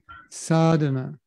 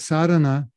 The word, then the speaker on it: sadhana: Conditioning is so deep that even though the word sadhana has a long A in front, you can read it, it's got a line over the A, we'll read it with